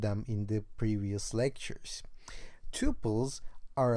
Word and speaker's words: tuple: change the name to tuples. And I've heard people pronouncing this as a tuple or tuple, so you may choose whatever you want, okay? But I call it tuple.